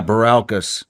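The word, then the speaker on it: Bilirakis: Baralkas? Yeah, Baralkas.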